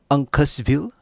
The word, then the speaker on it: Uncasville: of october over in uncasville am i pronouncing that right uncasteville at the mohigan san